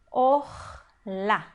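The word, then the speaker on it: ערלה: Então, esse aqui é um kamatz katan, a gente lê como O. or. E a última sílaba, ela, apesar de ser uma sílaba fechada também, ela é a sílaba tônica da palavra. Então, nós vamos ler como A.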